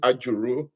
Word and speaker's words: Ajuru: Auru Azure cloud engineer at I am property. I hope I pronounce that properly.